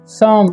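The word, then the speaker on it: some: हुआ है bring bring सम इसे समो नहीं पढ़ते हैं सम पढ़ते हैं ओ का उच्चारण यहां पर अ होता है ठीक है यहां पर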